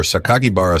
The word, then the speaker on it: Sakakibara: a play on words where sakakibara sounds like his Home Room teacher surname and Sato sounds like student thus the real meaning